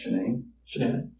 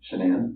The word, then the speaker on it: Shanann: And I don't want to pronounce her name wrong. Shanann. Shanann?